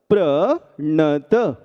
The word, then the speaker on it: प्रणत: इस दोष से बचने के लिए यदि हम प्र पढ़ने के बाद नत पढ़ते हैं तो उच्चारण शुद्ध आ जाता है। इसलिए भक्ता मरप प्रणत पढ़िएगा।